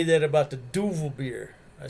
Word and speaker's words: Duvel: ever had a duval a lot of people must pronounce and say duvel is definitely duval yeah like what's the